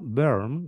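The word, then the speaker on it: Böhm: sierva de Dios d Antonieta se pronuncia berm no explíquenos por favor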